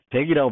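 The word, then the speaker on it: deque: 저도 자꾸 발음을 덱이라고 발음하셔야 돼요.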